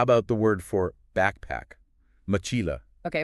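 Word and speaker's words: mochila: I'd call out MOA definitely stressing Chi there perfect you found the stress syllable again all right and this time because that stressed syllable is the second to last syllable and moila ends in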